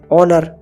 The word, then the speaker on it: honour: ऑनर, HONOUR, ऑनर यानी सम्मान करना। हम ऑनर को पगड़ी भी बोलते हैं या फिर मान सम्मान भी बोलते हैं। इस ऑनर में H साइलेंट है।